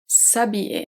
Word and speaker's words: s'habiller: Here the H is a silent H. This is why we don't have se habiller. The silent H acts as a voyelle. So it's S apostrophe and not SE.